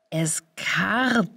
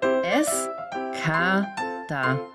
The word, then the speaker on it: Escada: Moment, Eskardar? Nein, es heißt Eskada. Eskada. Ganz einfach, Eskada. Und nicht Eskardar, Eskada oder Eskardar. Warum hat das überhaupt 121 Likes?